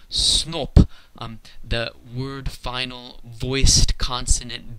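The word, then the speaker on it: сноб: The word in Russian for snob is borrowed from English, but they don't say snob, they say snop. The word final voiced consonant B gets devoiced and pronounced as its unvoiced pair, P.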